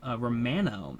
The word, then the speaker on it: Romano: Taylor Rogers, Jordan Romano. Actually, it's not mono, it's Romano.